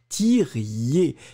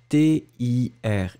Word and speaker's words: tiriez: Il y a des personnes qui ont oublié le i, hein, parce que souvenez-vous que la terminaison, c'est yé, yé, yé, i-e-z. Et donc ici, c'est il faut que vous tiriez. T-I-R-I-E-Z.